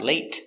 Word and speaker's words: late: Late, remember, is a stop T, not late, but late. Stop the air, late.